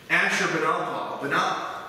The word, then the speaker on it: Ashurbanipal: All right, Ashurbanipal is how you pronounce that.